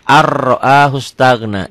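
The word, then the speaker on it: أَن رَّآهُ اسْتَغْنَىٰ: Dibacanya ar-ra'ahus stagna. Di atas ro-nya ada tasdidnya. Berlaku ketentuan setiap huruf mati ketemu huruf bertasdid, huruf matinya jangan dibaca.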